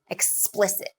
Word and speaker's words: explicit: it like r archive explicit explicit so the primary stress is on the second vowel explicit and you'll want to